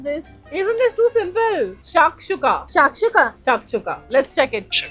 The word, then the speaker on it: shakshuka: Can you pronounce this? Isn't this too simple? Shakshuka.